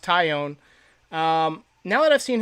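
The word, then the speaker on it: Taillon: now that i've seen jameson ty own and it's pronounced ty own um now that i've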